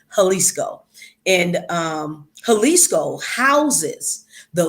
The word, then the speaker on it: Jalisco: the state of jalisco it's pronounced with an h but it's a j jalisco and um jalisco houses